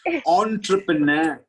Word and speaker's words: entrepreneur: around your house who is that it's me entrepreneur entrepreneur so write down the spellings all right